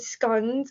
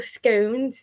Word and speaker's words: scones: fish and chips and scones or scones depending on how you pronounce it um so we